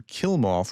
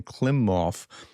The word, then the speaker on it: Klimov: And he's made some brilliant points, but I called him Kilmov rather than Klimov, and I wanted to correct that record because you know how I am with pronunciation.